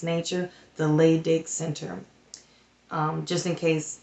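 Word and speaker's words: Leydig: soul is expressive creative in its nature the lay dick Center um just in case you are interested um when they said the lay dig center it's spelled l-e-y-d-i-g by this breathing this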